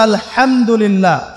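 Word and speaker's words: الحمد لله: আলামিন এইতো আপনি পড়ছেন আলহামদুলিল্লাহ শব্দটা কি আলহামদুলিল্লাহ এই হা এর মাখরাজ কোথায় হা এর মাখরাজ কোথায় বলেন একজন কণ্ঠনালীর মাঝখান থেকে এখান থেকে আপনি উচ্চারণ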